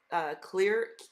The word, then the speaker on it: Klir: But I wanted to say, Sean Shore purchased a clear.